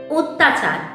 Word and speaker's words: অত্যাচার: কোন ব্যঞ্জন ধ্বনি কিন্তু এর উচ্চারণ হচ্ছে ও এর মত শব্দের আদির যে অত